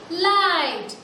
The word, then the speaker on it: light: Light. सिर्फ L, I और T हमें सुनाई देता है. But we have to write the spelling G and H. That means G and H are silent letters.